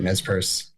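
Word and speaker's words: Nez Perce: And then there's a u NES Pierce. Is that how you pronounce it? Yeah, that's right. Nespur.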